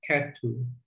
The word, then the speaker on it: ketu: this is a ch this is a t so it means ket and then you have the three vertical lines uh it's pronounced ketu so things arikatu do